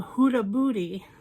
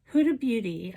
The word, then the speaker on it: Huda Beauty: glenbags which is the purple haze palette from huda booty huda beauty i can say it correctly it's more fun to say hudabudi and it is absolutely stunning and it's totally